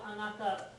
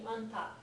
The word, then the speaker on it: anata: And sometimes instead of anata fully pronounced, it ends up being anta, which can come across as rude, but it can also come across as just, they've got a very close relationship.